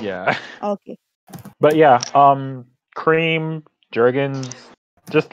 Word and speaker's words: Jergens: Jergens. Jergens, Jergens. yeah. It's a Jergens or hard G. Jergen? It's a hard G.